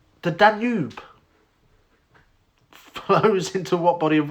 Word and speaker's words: Danube: Danube like lube.